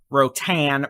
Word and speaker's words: Rotan: thing is quite angry it's Ro tan thank you I do it long time people know I have a horrible time pronouncing things mostly because of his speech impediment it's not my intention to mispronounce everything but I do so Rotan you're again 60 mile an